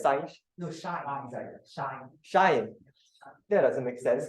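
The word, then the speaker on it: sinh: Wait, how do I pronounce? Sine. Can we agree that it's sine? No, shine.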